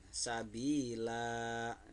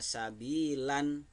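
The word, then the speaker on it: سبيلا: kemudian yang keenam Sabila Sabila nanya ini yang di akhir tidak dibaca sabilan karena ini di akhir kalimat atau di akhir ayat jahe di akhirnya di akhir ayat maka dibacanya dua harkat biasa bila mati What karena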